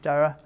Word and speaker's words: Daragh: You don't pronounce the GH, so it's just Daragh.